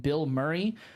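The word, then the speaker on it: Bilmuri: to listen to is an artist named Bill Murray uh I know what you're thinking um it's spelled b i l m u r i um so it's one word um if you ever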